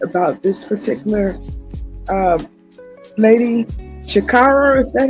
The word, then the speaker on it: Sha'Carri: about the subject about this particular um lady Shakara, is that how you pronounce her name? Yes, Shakara. Okay. Shakara.